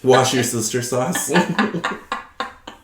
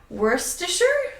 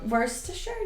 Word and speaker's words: Worcestershire: So wait, how do you say it? Wait. Do it. Okay, let me see. Worcestershire? That's That's actually really pretty close. good. That's really good, yeah. Yeah. Worcestershire, yeah. Mm-hmm.